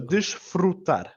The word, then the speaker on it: desfrutar: So desfrutar. Desfrutar. Tar. And then our last syllable here, tar, we're getting a bit of a harder, more pressed A.